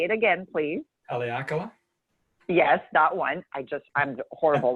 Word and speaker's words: Haleakala: Because by the time, again, you pronounce the volcano so well. Say it again, please. Haleakala?